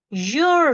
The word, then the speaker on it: you're: then r e and you pronounce it as your you're rich he is he